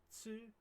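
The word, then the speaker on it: つ: It's ta, chi, tsu, te, to. As we discussed before, there are no t or tu sounds in Japanese.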